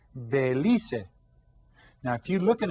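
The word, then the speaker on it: Belice: You see, you pronounce all of the letters in Spanish, so it's Belize.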